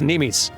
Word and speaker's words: mneme: that attempts to transubstantiate It's pronounced Nim I learned nemis it's Greek which I should have